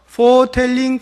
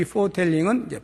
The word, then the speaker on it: foretelling: 아주 유사한 발음인데요. foretelling, foretelling 이라고 하는 게 있어요. foretelling, 제일 처음에 나오는 foretelling은 F-O-R-E-T-E-L-L-I-N-G, foretelling.